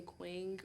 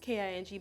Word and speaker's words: Qing: oh yeah so sometimes people pronounce my name wrong and they say quing oring yeah cuz like where's the U guys it's just it's K iing G so I'm like it's pronounced K iing but it's spelled Q